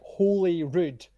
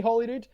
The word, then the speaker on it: Holyrood: No, it's fine because it is like holy rude in Scots, but we Yeah. all just say Holyrood, like it's Hollywood, but with less glitz and glamour.